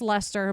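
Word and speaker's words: Leicester: leester or something that it looks like leester and it's pronounced Lester but still Wester is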